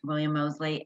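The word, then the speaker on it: William Moseley: mosley is that how you say it correct william mosley and joanna brady correct great okay they're adorable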